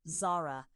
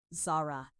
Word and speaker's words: Zara: Not Zara, the two even syllables my mother gave me, neat and measured as the woman herself. He said it with the emphasis skewed wrong. Zara.